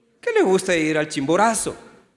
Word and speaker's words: Chimborazo: Que le gusta ir al Chimborazo. A mí gustar ir a la Chimboraza, ¿está bien pronunciado o no?